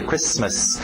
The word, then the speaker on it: Christmas: O T é mudo, não pronuncia esse T. Christmas.